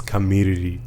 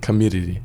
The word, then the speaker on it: Kamiriri: No, the way I know how to say it, it's Kamiriri. Kamiriri.